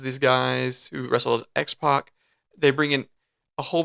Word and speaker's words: X-Pac: the X-Pac. But once 2 Pac, he couldn't do that, so he just said X-Pac. Yeah. I'm not gonna. Is it? But it's spelled like that, like PAC. Yeah, X-PAC.